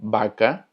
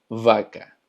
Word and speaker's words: vaca: Por ejemplo, la palabra vaca significa vaca también, solamente que nosotros lo pronunciamos como vaca, pero en portugués se pronuncia vaca.